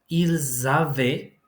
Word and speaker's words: ils avaient: Ils avaient. Notice the fact that I pronounced z because we have an S followed by a vowel in the next word.